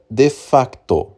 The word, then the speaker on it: de facto: Eh, portanto, o índex cessa de facto, tá? Vou eh vou pronunciar o se mudo aqui porque é uma expressão latina.